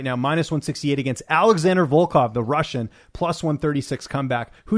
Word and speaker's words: Volkov: Yeah, Volkov.